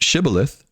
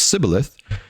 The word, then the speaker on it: shibboleth: So this word they used, shibboleth, that they pronounce sibboleth, as I said, it means a flowing river or a stream.